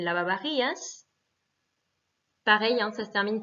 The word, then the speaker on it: lavavajillas: Hein, attention, le V se prononce B, donc el lavavajillas.